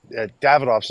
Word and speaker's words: Davidoff: Davidoff's another one. Davidoff, two syllables.